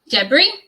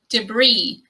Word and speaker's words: debris: possible pronunciations you have debris or debris i personally say debris and in american english it should be debris debris with the stress on the second syllable and in a contextual